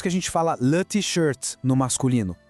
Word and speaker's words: t-shirt: A camiseta, em francês, eles pegam a palavra em inglês mesmo, mas dão aquele toque francês na pronúncia. Fica assim, le t-shirt. Vamos tentar? Le t-shirt. Percebe a diferença?